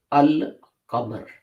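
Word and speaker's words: القمر: If you apply al to a noun starting with a moon letter, then both of them are pronounced fully.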